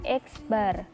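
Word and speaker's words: x̄: Mean atau rata-rata itu disimbolkan dengan X, terus dikasih garis atas, itu dibacanya X bar.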